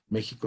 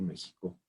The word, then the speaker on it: México: en francés inglés y en cuántas lenguas más méxico se escribe con x esto tiene una razón de